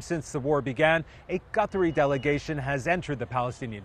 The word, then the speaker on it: Qatar: people say Gutter, but I listened to him actually pronounce the name of his own country, and it actually kind of sounds like Qatar, Qatar, almost like Welcome Back Kotter for people who are as old as I am and can remember that